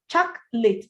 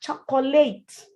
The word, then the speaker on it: chocolate: Bandage, chocolate, not chocolate. It's a word that looks like it should have 3 syllables, but kindly say it with 2.